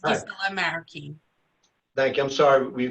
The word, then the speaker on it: Guisela Marroquín: Giselle Moruquin. Okay, just get them on. Hi, ma'am. Spell it. Wait, Hi, it's Hi. Gisela Marroquin.